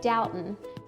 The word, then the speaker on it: Dalton: And a local, while I was there, told me that I was pronouncing it wrong and that it's actually Dalton.